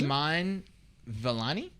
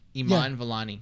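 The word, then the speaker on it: Iman Vellani: go like i don't you wanna try and pronounce it uh would be mine velani yeah that's close i think what what is it her name i am a n iman valani yeah iman valani okay yeah if not i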